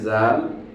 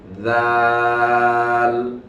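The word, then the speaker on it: ذ: আওয়াজে এরপরে দেখেন রয়েছে চার নাম্বারে জাল এই জালটা হবে চিকন আর বাম পাশে রয়েছে জ এটা হবে মোটা ডান পাশে রয়েছে জাল বাম পাশে রয়েছে জ তো আমরা উচ্চারণ করি পার্থক্যটা জাল জাল জাল আর বাম পাশে যেটা মোটা আওয়াজে সেটা হচ্ছে জ এই হলো জাল এবং জ এর মধ্যকার পার্থক্য পাঁচ নাম্বার রয়েছে দেখেন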